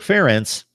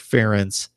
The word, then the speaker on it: Ferentz: accomplished under Ference Kirk Ferentz difficult name to say sometimes sometimes she's slide the the syllable emphasis anyway so I was